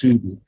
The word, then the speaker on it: Soudi: It's spelled like, in Arabic, it's spelled like Saudi Arabia, but it's pronounced Soudi, which in turn means